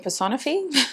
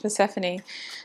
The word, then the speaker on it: Persephone: Oracle by Lily tarot I always just couldn't say her name I was saying personify oh my gosh Persephone Spirit what does group